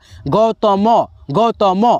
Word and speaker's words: गौतम: जैसे आप पढ़ करके देख सकते हैं गौतम, तो के बाद अ का ध्वनि आएगा थोड़ा सा, लेकिन दोस्तों लास्ट में जब जाएगा आप पढ़ेंगे, उच्चारण करते हुए देखेंगे तो आपका जो है ना साइलेंट हो जाएगा, तो वहाँ पे जा करके आधा तो के रूप में गौतम, म अ नहीं ना आया, गौतम ऐसे नहीं ना बोलते हैं,